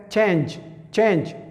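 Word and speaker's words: change: دویم مثال لکه ای چې اوس نه کې تلفظ کیږي ای سایلنټ ته، لکه چینج بدلول، د یو شي بدلول چینج دې ته ویل کیږي.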